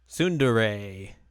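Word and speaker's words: tsundere: Sundere.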